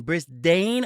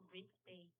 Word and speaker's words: Brisbane: Are you saying Brisdane or Brisbane? Brisbane. caller. You are absolutely right. It is Brisbane.